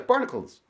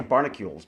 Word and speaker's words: Barnacules: uh yeah it was barnacles barnacles sorry uh i always want to say barnacules because it that's how it's spelled barnacules um barnacules was talking about